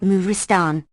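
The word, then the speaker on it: مارستان: Maristan, pronounced Muristan, a corruption of the Purs.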